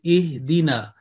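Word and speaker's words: اهدنا: As you say, alif with fatha, a, and this down, I sound E. So when it joins with the next one, you say ihdina.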